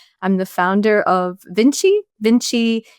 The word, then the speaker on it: VNCCII: Vinci was inspired by Leonardo da Vinci, but it's spelled different, VNCCII.